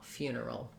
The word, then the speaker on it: funeral: Again, a schwa before my final L, funeral.